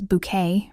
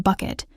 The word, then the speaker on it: Bucket: Hiasin, with her insistence on pronouncing her surname as Bouquet rather than bucket, became a caricature of English social climbing, but in Rout's hands, she was never merely a cartoon.